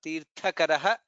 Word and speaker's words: तीर्थकरः: In this shloka, Tirthakaraha, Tha is Mahaprana, only one Mahaprana, otherwise comparatively easier shloka in terms of the pronunciation.